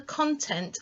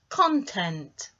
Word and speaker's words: content: Do you hear the difference in the way I emphasised the sounds in those words? Content, content, two totally different words, but if you're looking at it purely from dividing into syllables, you're dividing in the same place. The only difference is we're using a different sound for the two different meanings, so don't get confused with that one.